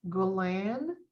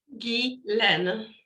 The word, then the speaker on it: Guilaine: It's Gulen. Guilaine. Guilaine. Okay. Mm-hmm. Yeah, it's a hard G. Hard G. I think it's because it's the way that it's either Canadian or French, right? It's French. Yeah.